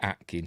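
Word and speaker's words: Aitken: even though it's spelled AI T Ken it's pronounced Atkin so the atlantans think he's one of them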